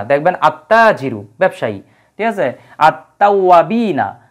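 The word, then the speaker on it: التوابين: আত্তাজিরু ব্যবসায়ী ঠিক আছে আত্তাওয়াবিনা এই যে আলিফ লামের কিন্তু কোন উচ্চারণ হয় না মিনাত তাওয়াবিনা মানে এই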